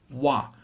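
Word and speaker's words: は: this really weird rule the topic marker is written with ha but never read as hot it's always read as wah we learned how to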